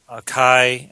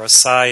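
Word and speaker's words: açaí: blueberry juice, strawberry, raspberry, and acai, and or acai if you pronounce it that way, many other amazing berries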